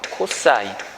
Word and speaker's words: cos: 빗변과 밑변을 짝지은 거를 우리가 뭐라고 하냐면요, COS라고 일반적으로 쓰고요. 얘를 코사인이라고 읽어요. 코사인.